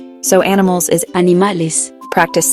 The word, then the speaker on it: animales: It's a short, open e sound, similar to the e in bed. So animals is Animales.